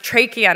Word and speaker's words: trachea: forgotten basic English that apparently it's pronounced trachea not Chaffee as we'd been led to believe and that there are